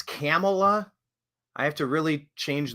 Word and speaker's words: Kamala: know and when did Kamala know it it's camela I have to really change the pronunciation I guess it's accurate to call camela that's Cala I've been calling her Camala forever how much did she know and when